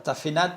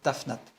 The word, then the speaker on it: Tafnat: Ici, en deuxième diacritique, nous avons un schwa. Un schwa translittéré E ou silencieuse, c'est-à-dire que c'est une lettre qui ne se prononce pas. D'ailleurs, ici on ne l'a pas mise, Tafnat. Il n'y a pas de E, il n'y a pas de Tafenat, il n'y a pas de Tafinat, c'est Tafnat.